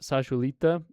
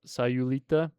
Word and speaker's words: Sayulita: There's a little town called, I pronounce it Sayulita, but it's Sayulita.